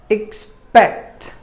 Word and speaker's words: expect: Word number 8, expect. Expect. There are only 2 syllables in this word. Expect. Spect should be given more volume.